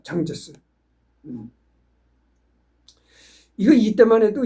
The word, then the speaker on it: 장제스: 이때만 해도 장개석이가 이끄는, 그러니까 장개석이라는 거는 그냥 우리 대한민국 한자로서 읽었을 때 장개석이고 중국식 발음은 장제스입니다. 장제스.